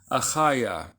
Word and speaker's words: Achaiah: But if there's no dagesh lene, it's more like a ch, like the letter chet, okay?